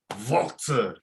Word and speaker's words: Walter: Walter, that's how you say his name.